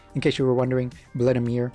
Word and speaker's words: Vladimir: In case you were wondering, Vladimir is like the English pronunciation, but the actual like Salvadorian pronunciation is Vladimir.